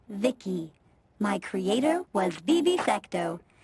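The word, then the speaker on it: Vici: taint to transistors by the way i'm v-i-c-i pronounced vicky my creator was vivi secto he's what you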